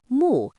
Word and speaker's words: 目: When you look at these examples, you can notice how mu carries the idea of seeing, viewing, or focusing on something.